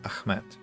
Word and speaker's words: Ahmed: read the message from Ahmed. Origin is Arabic, but I'm not Arab, I'm Turk, and I pronounce it softly. Ah, so it's Ahmed, not Ahmed. It's the soft one, Ahmed.